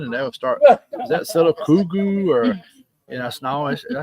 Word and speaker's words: Sylacauga: And they'll start, "Is that Sylacauga?" Or, I said, "It sounds just like it's spelled. It's Sylacauga, Mm-hmm.